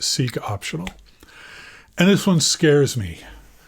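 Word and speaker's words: seqOptional: my Nemesis seek optional I'm going to call it see I'm going to pronounce it seek optional and this one scares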